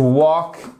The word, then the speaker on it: walk: To walk, on ne prononce pas le L.